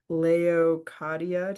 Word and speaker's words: Leokadia: Leokadia, did I say it right?